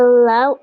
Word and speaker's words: law: Luck saved her from the law at a low cost. Nah, yang ini ulang repeat after me. Law. Law. Enggak pakai W.